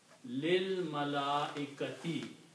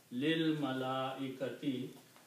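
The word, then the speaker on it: لِلْمَلَائِكَةِ: Also, when you recite these together, we don't pronounce this alif. We combine this lam with this lam, and it sounds lil. Lil malaikati.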